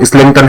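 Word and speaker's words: Islington: का, 1912 का, जिसे आइजल इस्लैंगटन, या फिर प्रोनाउंसिएशन आप इसका ठीक से देख लेना, मैंने तो इसका प्रोनाउंसिएशन अभी देखा है, वो इस्लैंगटन है, इस्लैंगटन कमीशन था।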